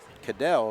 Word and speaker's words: Cadell: So Ryan actually pronounced Cadell according to the PA announcer.